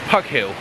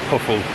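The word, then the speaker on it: Poughill: And when I first moved down here, Poffel, near Bude, spelt P-O-U-G-H, you know, and I think that's Pug Hill. But it's not, it's pronounced Puff Hill, or Puffle, sorry.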